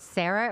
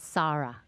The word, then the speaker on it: Sara: So my first question is, do you pronounce it Sarah or is that just the American way? Is it Sara? It's Sara, actually, okay. Yeah. Okay, so even in America, we should say Sara.